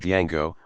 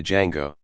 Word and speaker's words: Django: a little kid called django but the parents don't know that the d is silent so he's called a django to be fair it